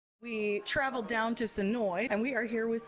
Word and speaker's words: Senoia: we traveled down to sonoy and we are here with tiffany the manager of the woodbury shop hi guys you even said sonoy right which is awesome i learned the lesson